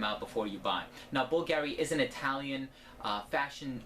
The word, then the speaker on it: Bvlgari: Greek and bulgary is spelled the way that it is with the V because of the classic Latin alphabet but it is pronounced bulgary so as far as